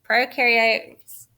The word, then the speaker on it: prokaryotes: video they talked about pro rhymes with no so prokaryotes have no